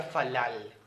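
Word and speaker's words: פלל: forma verbal sí de una raíz hebrea que se pronuncia falal sí esto se traduce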